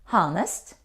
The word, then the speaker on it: honest: we pronounce enough cough there are some words which begin with the letter h for example these words how do you pronounce them honest honorable power no we don't pronounce h in these words age isn't pronounced we say honor honesty or honest our honest means a